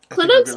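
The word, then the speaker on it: Klynoks: way Meg um okay clinics almost like Inox but but really it's k-l-y-n-o-k-s it Rhymes exactly in my opinion that's how you say anox Grove should we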